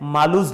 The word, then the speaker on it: Malus: ये जो लॉ रहता है, इस लॉ को हम बोलते हैं मालूज लॉ।